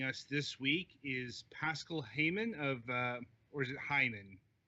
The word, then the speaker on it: Haymann: When people try to pronounce it English, it sounds like a Hyman. It's always a bit awkward. So, no, Haymann is fine.